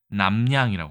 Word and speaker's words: 납량: 두 번째 글자는 경일까요 납량이지만 우리가 보통 발음할 때는 어떻게 하죠 남양이라고 합니다 보통 남양 특집 이렇게 해서